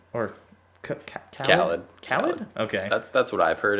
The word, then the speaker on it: Khalid: American Teen by Khalid or Khaled? Khaled. Okay. That's what I've heard it pronounced as.